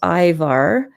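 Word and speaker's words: ajvar: loves food i'm using here this jar of ivar it's pronounced ivar in in eastern europe and this is a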